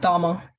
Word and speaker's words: Cama: Is it Cama? It's pronounced Dharma.